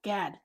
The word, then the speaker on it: Gad: Gad. Gad. Okay. I always want to say it's like pronounced differently, but I love how he did